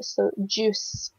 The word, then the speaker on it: juice: So the U and the I together makes an oo sound in this word. So juice.